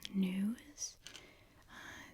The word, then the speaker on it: gnu: I believe they're called gnu's. It's like G-N-U. Gnu. I don't think you pronounce the G, but I also just don't know.